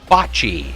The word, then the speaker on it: bocce: Pronounced bocce. All right, thank you. There we go. Oh, my health. My health. Like bocce ball.